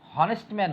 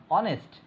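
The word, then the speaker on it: honest: আবার এখানে অনেস্টম্যান, হনেস্টম্যান হয়নি, হনেস্টম্যান উচ্চারণটা হবে কি? অনেস্ট। সো এখানে এইচের উচ্চারণও হয়নি।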